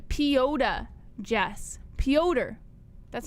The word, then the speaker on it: Petr: it pronounced piota jess pyoder that's how they pronounce it pyodaryan that's a good question why why is it just not peter because no and not